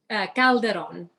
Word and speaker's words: Calderon: so many times because, it's easy to say Calderon or Calderon, but to say it correctly is Calderon.